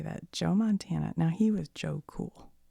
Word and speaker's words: Joe Montana: had was Joe namoth on the team not Joe namoth you guys Joe Montana dang it I said it wrong on the